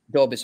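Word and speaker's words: Dobeš: Dobis, okay.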